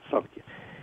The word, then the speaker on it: Samkhya: And Samkhya is written with an M, but it's pronounced Samkhya.